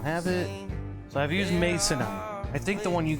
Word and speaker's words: masonite: So I've used masonite. I think the one you got was probably masonite. Yeah, 1S. Mason, not missionite. Not missionaryite. Mason, M-A-S-O-N-I-T.